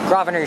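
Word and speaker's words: Grosvenor: here's graviner street the s is actually silent when he pronounced it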